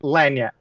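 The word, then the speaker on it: lagniappe: And then you're going to have to help me with the pronunciation. Ligny, right? Lyap. How do you say it? Lap. Lyab. Lanyap.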